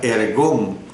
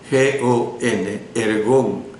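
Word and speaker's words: ἔργον: La palabra del idioma griega traducida por obra es la palabra ergón, así como la oye, E-R-G-O-N, ergón. Y significa, esta palabra ergón,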